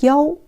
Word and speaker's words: 一: But in some situation, we read 一 as 幺.